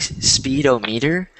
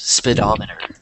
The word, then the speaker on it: speedometer: It looks like speedometer, but it's pronounced speedometer.